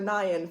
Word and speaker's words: Nian: I probably should have named it Change for Nian Fund, or Nian depending on how you want to pronounce it.